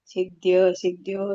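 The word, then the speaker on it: ಸಿದ್ಧ್ಯಸಿದ್ಧ್ಯೋಃ: ಕುರುತ್ವ ಕರ್ಮಾಣಿ ಸಂಗಂ ತಪ್ತದನಂಜಯ ಸಿದ್ಯೋ ಸಿದ್ಯೋ ಸಮೋಭೂತೋ ಸಮತ್ವಂ ಯೋಗ ಉಚ್ಚತೆ ಹರೇ ಕೃಷ್ಣ ಮಾತ ಇಲ್ಲಿ ಸಂಗ ಅಲ್ಲ ಸಂಗಂ ತತ್ವ ಮತ್ತೆ ಸಿದ್ಯ ಸಿದ್ಯೋ ದ ಕೆ ದ ವತ್ತಿದೆ ಮತ್ತೆ ಯ ವತ್ತಿದೆ ಹಾಗಾಗಿ ಸಿದ್ಯ ಸಿದ್ಯೋ ಯಾವಾಗ ಒತ್ತಕ್ಷರಗಳನ್ನ ನಿಮಗೆ ಉಚ್ಚಾರಣೆ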